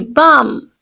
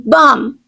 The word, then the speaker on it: balm: lip balm apply Li BM here L is silent to some extent not exactly right apply Li BM next one let's sit